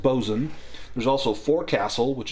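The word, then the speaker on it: boatswain: Uh, it's spelled like boat swain, but it's pronounced bzan.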